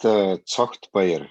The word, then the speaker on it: Tsogtbayar: Well, it's pronounced Tsogtbayar.